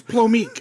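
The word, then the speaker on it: plomeek: It's plomique. It's plomique broth, yes. That's how I believe it is supposed to be pronounced.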